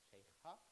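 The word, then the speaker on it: Shaikhha: The correct pronunciation is Sheikha.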